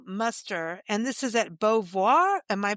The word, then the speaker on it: Beauvoir: Beauvoir, which is a Beauvoir. historical Oh, Beauvoir, as a Beauvoir.